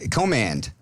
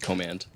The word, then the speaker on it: Command: Is that how you say it? That is how you say it. All Yes. right. I was saying Dan Command, which sounded like a very cool last name. Yes, it does sound much cooler, but the real pronunciation is indeed Command.